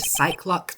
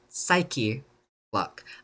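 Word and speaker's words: Psyche-Lock: It's pronounced psyche, by the way. I said psych lock the entire time that I I played this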